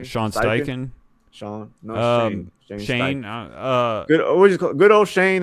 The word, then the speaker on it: Steichen: Sean Steichen.